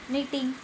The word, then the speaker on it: knitting: Answer आएगा नीटिंग, KNITTING, क्योंकि इसमें के क्या है, साइलेंट है, इसलिए हम इसको नीटिंग बोलते हैं।